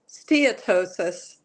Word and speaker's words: steatosis: correctly in the introduction you did it's uh steatosis is how it's pronounced okay they've changed the name and it's